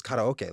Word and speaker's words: karaoke: that we pronounce, like, take for example, karaoke. Mhm. Like, people say karaoke, but growing up in Hawaii, it was karaoke.